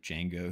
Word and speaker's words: Django: The D is silent. I've only had one person be like Django fucking rules.